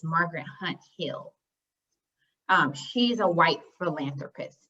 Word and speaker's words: Margaret Hunt Hill: and a side note margaret hunt i'm sorry i said it wrong it's not margaret hill hunt it's margaret hunt hill um she's a white